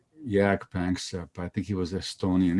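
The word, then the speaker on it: Jaak Panksepp: well there was a great great scientist called jack banks i think he was estonian he lived and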